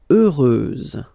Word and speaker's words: heureuse: Heureuse, final S, not pronounced.